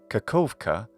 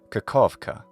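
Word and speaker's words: Kakhovka: in English a v sound so you can pronounce the city's name rather simply as kakovka or kakovka the city we saw earlier called melitopal from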